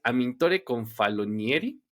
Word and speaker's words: Amintore Confalonieri: Y bueno, pues mi invitado para hablar de Venezuela es Amintore Confalonieri. Espero haberlo pronunciado bien.